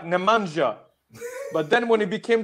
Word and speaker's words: Nemanja: world class, they were like, "Nah, it is Nemanja. Nemanja, show him respect." So I was a couple of months away from being pronounced Bojan, but then my career went like